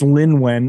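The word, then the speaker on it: Lynwen: passing on to I think she started with Lewin, and please tell me haven't mispronounced her name 100 times. No, I think it is. Oh no, it's Lin Wen.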